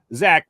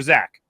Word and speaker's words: Zach: guest today from your philadelphia eagles defensive back zach mcpherson what's going on there zach what's going